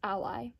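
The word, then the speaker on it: Alai: and that is ally i think that's how you pronounce it because symbolically it would make the most out of sense it's spelled a-l-a-i and the reason that i think it's ally is because symbolically what is an ally an ally is someone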